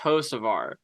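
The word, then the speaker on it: Hocevar: So if you do see him, just be like, my guy, it's pronounced Hosevar.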